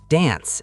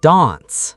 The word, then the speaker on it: dance: Dance. In Britain, it's dance. In America, dance, like the A in cat.